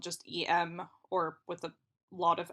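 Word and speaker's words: euh: is usually spelled just eem or with a lot of M's and then in French it's usually spelled EU and it's like e or I don't my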